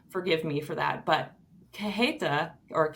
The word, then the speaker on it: cajeta: not very helpful, um, the J is more like an H Yep. sound. So anyway, I'm sure I'm not saying it quite right. Forgive me for that. But cajeta or cajeta is spelled Cajeta.